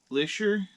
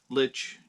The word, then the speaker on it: Lich: So the original brewery started in 1854 was in the town of Lich, Germany, but you put an ER at the end and it's Licher, so at least that's what Google was saying.